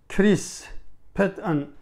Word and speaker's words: Chris Patten: Yani Charles, bu İngilizce'de Chris Patton diye okunuyor.